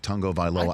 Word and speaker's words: Tagovailoa: or the fact that you finally attempted to pronounce his last name of Tagovailoa and got it right.